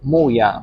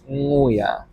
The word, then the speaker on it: nguya: And this one, I heard muya, but actually it was nguya. It's so close. The sound is so close, so I made a mistake.